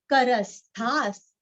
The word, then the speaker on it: करस्थाः: करस्था और विसर्ग का उच्चारण आधा स, करस्थास, करस्थास।